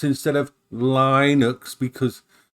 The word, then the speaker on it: Linux: I must say Linux instead of Linux because Linux is wrong. It's Linux. I'm supposed to pronounce it as Linux, not Linux.